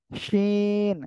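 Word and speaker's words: شين: কি শাসা শব্দ করে জিহ্বার মাঝখান তার বরাবর উপরে তালুর সঙ্গে লাগিয়ে শাসা করে উচ্চারণ হবে সিন তিন আলিফ টান হবে আমাদের এই অক্ষরে শিন ঠিক আছে কয় আলিফ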